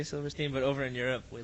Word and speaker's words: Silverstein: No, I know already because like in Belgium I messed up and I said Silverstein Yeah. because like it's it's a German word. So we Over in pronounce it- Europe, that's the only place we let people get away with that. If they say it here, if they're like, yeah, Silverstein, we're like, hey, no, it's Silverstein.